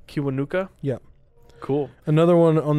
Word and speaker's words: Kiwanuka: how do you say his last name again cuba nuka kiwanuka yep cool another one on that album is